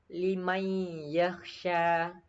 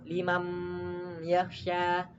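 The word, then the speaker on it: لِمَنْ يَخْشَى: Nah, untuk cara bacanya seperti ini. Liman yakhsha, man yaqulu. Nah, harus meleburkan ke huruf setelahnya, teman. Tidak boleh seperti ini. Limam yakhsha, man yaqulu.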